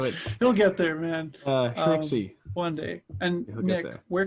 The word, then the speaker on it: Shmicksy: Not Schmegsky or Schmarsh. Not Schmagsy or Shmicksy or Schmikesy. It's just Schmicksy.